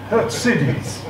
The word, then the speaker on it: Khurtsidze: I'm told that is the correct pronunciation. It should actually be Khurtsidze. Khurtsidze.